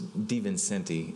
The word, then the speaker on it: DiVincenti: It's DiVincenti is how you pronounce it.